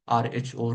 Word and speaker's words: rho: If I say the density of the liquid is denoted by rho, this is a Greek letter, which is pronounced as RHO rho. It looks like a P, but it is called a rho.